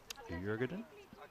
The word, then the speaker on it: Djurgården: That's called Djurgården, and that's how the tourist guide pronounced it. And she was Swedish, so I'll run with that.